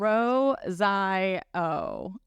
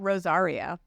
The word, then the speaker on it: Rosaio: Rosaio. Rosaio. There's no R. It's not Rosario. Yeah. It's Rosaio.